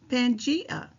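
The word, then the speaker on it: Pangaea: It is pronounced pangia.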